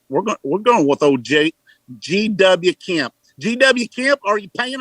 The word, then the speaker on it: Kemp: We're going with old GW Kemp. GW Kemp, are you paying attention? G.W. Kemp, like walking with a limp. Kemp. Oh. Yes. K-E-M-P.